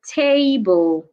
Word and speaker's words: table: stress the first syllable for example the word table table you should stress the first syllable T why the word has two syllables and it's a noun another example is climate